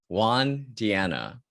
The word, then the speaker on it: Juan Diana: this is another great episode because we have juan diana that's how i pronounce it right did i get right yeah